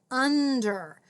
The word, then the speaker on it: under: these snap words i'm hearing that r sound at the end and here i'm seeing this e but i don't hear it under so we have another